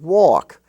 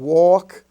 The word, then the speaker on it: walk: were spelled h-a-f-f and in the l-k family you have talk and walk where the a is pronounced like the a and all talk and walk even though it's in the milk and silk family as talk and walk as if it was spelled t-a-w-k or w-a-w-k walk now in lesson